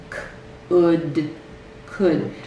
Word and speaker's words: could: The L is really silent in these.